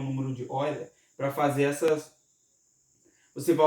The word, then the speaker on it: Euler: O número de Euler, que se pronuncia Euler, né?